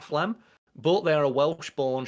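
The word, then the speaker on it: Phlegm: They're just um Flem. I think that's how they pronounce it. P H E L G M. So I pronounce that Flem.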